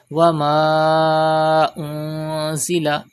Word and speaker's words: وما أنزل: Wama unzila. You can see Hamza after Alif Madda in the next word. It is Madde Munfasil. You have to stretch up to 5 harkat.